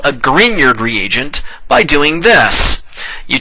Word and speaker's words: Grignard: And yes, that is pronounced Grignard, not Grignard.